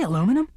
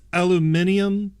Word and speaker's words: aluminium: break room hold on did you say aluminum it's pronounced aluminium thank you could it